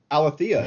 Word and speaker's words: Aletheia: Aletheia is how they pronounced it in the song. Aletheia. That sounds way more Greek to me.